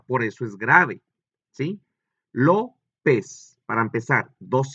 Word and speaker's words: López: López. Para empezar, dos sílabas. Lo, pez. ¿Dónde lleva acento? En la O, que es en la primera sílaba, si lo vemos así,